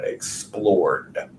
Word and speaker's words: explored: the second column and pronounce that Ed as a D sound explored next we have climb